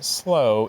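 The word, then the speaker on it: sloe: a homonym and the word is slow this slow is a small dark colored Plum with a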